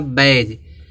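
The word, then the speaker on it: badge: यहां प दिया है जब किसी वर्ड्स में जी से पहले डी आता है तब डी साइलेंट होता है ठीक है एग्जांपल देखते हैं यहां पे देखो दिया एक वर्ड दिया बैज बैज में देखो बी ए डी जी है तो य जी है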